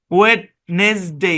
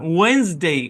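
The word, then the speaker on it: Wednesday: না ভাই, এটা ওয়েডনেসডে না, এটা ব্রিটিশ এবং আমেরিকান সেম উচ্চারণ, ওয়েন্সডে, ওয়েন্স, মানে এটা ডিও সাইলেন্ট, তারপর হচ্ছে ইও সাইলেন্ট, এসটা জেড এর মতো, ওয়েন্স, মানে ডিও সাইলেন্ট,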